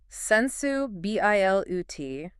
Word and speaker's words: sensibility: Okay, now with the flow. Sensu, B-I-L-U-T. That was liquid. And notice, when you say it that way, the word doesn't just mean sensitivity anymore. It carries that 19th century elegance. It sounds like a word that belongs in a drawing room.